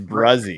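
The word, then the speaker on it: Bresee: It's Brzee. Brzee. I knew it was something that doesn't sound at all like it was spelled. It's Brzee.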